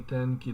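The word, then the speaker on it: 天気: ひどい天気だった。ひどい天気だった。天気。 Yes, I heard it. 天気. It's the first syllable's accented, or the first moron.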